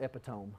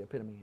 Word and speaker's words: epitome: says emerson he call he pronounces that epitome but anyway it's actually epitome um so maybe he'll